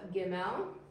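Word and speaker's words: ג: We have gimel, good job, and g.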